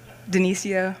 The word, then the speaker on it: Danicia: instead of trying to pronounce it and doing it wrong. Denisia.